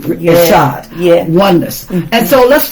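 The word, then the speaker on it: echad: ishad in the hebrew okay uh amen which is spelled e c h a d assad yes oneness and so let's take a look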